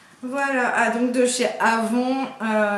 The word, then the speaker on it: Avon: ah donc de chez Avon nous on prononce ça comme ça je sais que elle elle dit Avon c'est une marque qu'elle